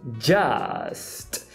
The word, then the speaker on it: just: A pronúncia deveria ser just. Só que me parece que ele desvozeia. Esse j vira tch.